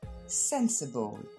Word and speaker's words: sensible: Numéro 1, c'est l'adjectif sensible. On regarde sa prononciation. L'accent tonique tombe sur la première syllabe, sen, ensuite c'est le son C, parfois l'américaine ce serait simplement ça, ball. Sensible.